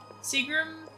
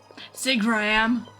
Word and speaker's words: Seagram: flowers to someone in Seagram? Sigram. You said it right the first time.